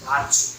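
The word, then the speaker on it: virtue: যদি টি এর পরে ইউ থাকে তাহলে টি এর উচ্চারণটা চ এর মতো হবে।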